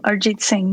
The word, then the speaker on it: Arijit Singh: Arijit Singh? Yeah, no, that's not bad at all. Arijit Singh, yeah.